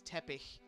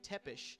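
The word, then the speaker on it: Țepeș: in my original review I always learned that as Tepe but they're saying tepesh so maybe I've been saying it wrong this whole time but then you could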